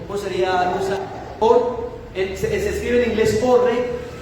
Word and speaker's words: Orr: Edwin Orr, no sé si se pronuncia, Orre, ¿cómo sería? Orr, se escribe en inglés Orre, se pronuncia Orr.